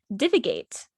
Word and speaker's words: divagate: the week oh um divigate which is d-i-v-a-g-a-t-e and it's spelled like diva gate like you know like